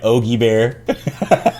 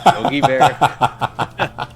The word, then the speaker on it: Yogi Bear: supposed to be you poker say it right Ogie bear Yogi Bear I don't think I've worn a Hawaiian